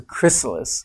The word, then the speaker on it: chrysalis: the chrysalis chrysalis yeah I have to say it very carefully because there's no tea in it I was pronouncing a tea but it's a chrysalis and they hatch from